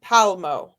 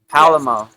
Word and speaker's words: Palmo: So it's Tanzine Palmo. So Palamo. Is that what I said or we I guess it's no pala. It's just palmo. Palmo. Palmo.